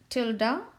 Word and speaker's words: tilde: written as p tilde this is how we pronounce tilde and this is the notation for that as